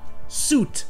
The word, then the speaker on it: suit: hymne et il est muet donc ça se prononce simplement soute avec le son où est donc ça fait